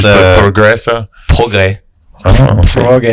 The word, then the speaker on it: progrès: Progrès. Oh, Progrès. see, you don't pronounce any of the letters. But there is an S at the end. Just don't say it.